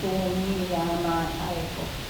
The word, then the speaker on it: Tomiyama Taeko: Tomi, it reads, spells exactly as I am saying, Tomiyama Taeko, and her artwork will pop up.